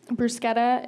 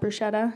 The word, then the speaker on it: bruschetta: that which they take very seriously it's um bruschetta is how it's pronounced not bruschetta just so everybody's aware there's a little problem